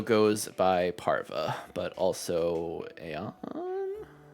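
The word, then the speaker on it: Aion: Okay, and Parva also goes by Parva, but also Aeon? Ion. It's spelled A-I-O-N, but it's pretty much just pretending like the A is silent. Silent Ace, got it. Yes, so you can just literally say Ion.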